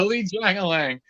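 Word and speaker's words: Li Jingliang: Yeah, Li Jiangalang. No, just the it is dominance. not. And then I actually talked to him, and he told me that's how you say it.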